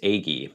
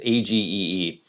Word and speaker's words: Agee: As for Walker Evans, have you seen the depression era book he did with James Agy? I never know how to pronounce that. Is it Ag or Agy? It's Agee.